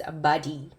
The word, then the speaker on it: Bade'e: So supposedly this is pronounced correctly as Bade'e.